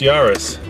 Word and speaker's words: Yaris: a startled squirrel yeah so what rhymes with uh Paris it's built in France but is owned by a Japanese car company and of course the answer is this yarus so let's uh see